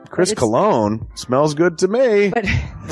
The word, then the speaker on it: Colon: It is a self-published book by Christopher Colon. Chris Colon?